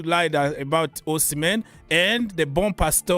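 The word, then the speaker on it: Bompastor: Bonpasto. Who? Sonia Bonpasto. Ah, okay. Well, that is how you guys English pronounce. Bonpasto. For us French, bon pastor is like a good pastor.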